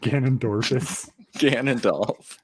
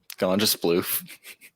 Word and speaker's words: Ganondorf: I've heard so many kids over the years just butcher the name Ganondorf. Like, gone to sploof.